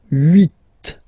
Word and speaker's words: huit: Then here, final T is pronounced, so huit, huit.